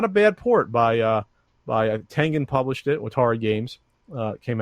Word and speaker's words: Tengen: it was not a bad port by Tengen published it. Atari Games came out with it. Is that how you pronounce that? I always thought it was Tenjin.